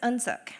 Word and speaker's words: UnSuk: My name is UnSuk. So Un is pronounced somewhere between the short and long vowel U. It means grace or mercy. Suk rhymes with hook or book, and it means dignity.